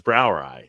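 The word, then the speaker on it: Brauerei: EU I think EI but his Brower ey is how it's pronounced which is basically for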